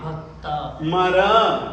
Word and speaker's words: भक्तामर: जैसे मैं उच्चारण करूंगा उसी रीति से आपको उच्चारण करना चाहिए बोलिएगा भ भ भ भक्ता भक्ता भक्ता भक्ता मर मर भक्ता मर भक्ता मर प्र प्र नत